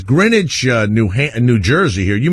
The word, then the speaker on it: Greenwich: by the way Jim Jim of it says Greenwich New New Jersey here you mean Greenwich Connecticut actually pronounced green witch it's spelled like grenage no no no please